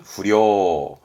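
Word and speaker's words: 不良: 발음은 후려, 후려, 불량.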